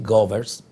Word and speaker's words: Goebbels: Gevers pronunciado en inglés, yo opto por decir Govers porque estoy hablando en castellano.